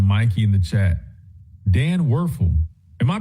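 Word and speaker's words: Wuerffel: The Werfel.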